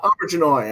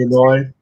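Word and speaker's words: Auberjonois: um, Auberginois, I think, is how it's pronounced. Abiginoy.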